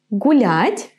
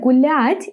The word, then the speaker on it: гулять: Now, in the word гулять, it's a little bit different because there is no this y. We just pronounce soft l and then a. L, a.